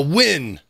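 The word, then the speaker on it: Nguyen: Oh, unless it's a win. A win 92AB. So I know I recognize that surname, the N-N-G-U-Y-E-N. And I've been told it's pronounced win.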